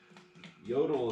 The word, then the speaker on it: Jotul: wood you get it yodel is spelled j-o-t-u-l and these stoves are